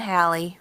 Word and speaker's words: Halley: Is it A, as a student at Oxford University in England, Edmund Halley, rhymes with valley, was so excited about astronomy that he left school to map the stars in the southern hemisphere skies?